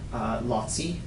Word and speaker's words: Laci: Her other brother had a son, Lotzi. It's spelled Laci.